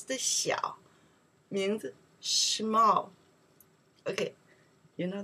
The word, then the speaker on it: 小: We pronounce the 小, means small.